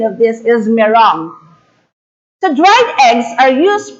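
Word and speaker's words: meringue: we pronounce this m-e-r-i-n-g-u-e as but the proper pronunciation of this is merong the dried eggs are used primarily as ingredients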